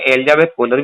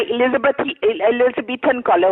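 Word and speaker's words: Elizabethan collar: है, मैंने उन्हें उसमें एलिजाबेथ कॉलर भी दिया हुआ था, इंजेक्टेबल भी उन्हें दिए हुए थे, मैंने सब कुछ दिया हुआ था। एलिजाबेथ कॉलर नहीं होता है, एलिजाबेथन कॉलर होता है, आपको तो ई प्रोनाउंस कॉलर, करना भी नहीं आता।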